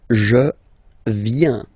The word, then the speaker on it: viens: First form, je viens. Final S not pronounced.